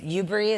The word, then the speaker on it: UBRI: UBRI, is that how you say it?